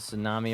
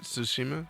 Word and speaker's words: Tsushima: Ghost of Tsunami or whatever. I don't know how to pronounce that shit. Tsushima.